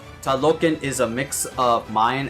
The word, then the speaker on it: Talocan: That's the actual pronunciation, like Talocan.